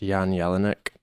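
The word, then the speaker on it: Jan Jelinek: this German producer named I think it's pronounced Yan Yellin ik and he had this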